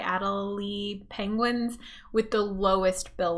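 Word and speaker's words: Adélie: and again i should really learn how to pronounce this the adelaide adelie penguins with the lowest bill length overall now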